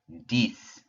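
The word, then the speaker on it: dix: and then we have dies rhymes with our word for six so we have diese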